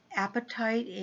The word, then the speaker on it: apatite: really good health stone apatite APA TI te which clears confusion I didn't want you to think of apatite as an eating because they're pronounced the same way and then one of